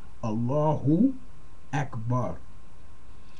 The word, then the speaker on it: Allahu Akbar: But it is pronounced Allahu Akbar.